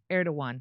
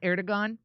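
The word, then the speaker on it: Erdoğan: But I do know how to pronounce Erdogan. How about you? Are you an Erdogon?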